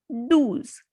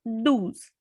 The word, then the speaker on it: douze: Number 12, do's, because O and U has the sound U. So do's.